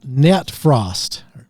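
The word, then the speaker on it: Nattefrost: Coming in at number eight on this list, Carpathian Forest Nat Frost. Nat Natfrost. How do you say that one? It's Nat Frost.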